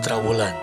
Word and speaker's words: Trowulan: 96 reported that the original name of trawulan was si trawulan which was then pronounced briefly as trawulan or Trowulan until now if Z muer interprets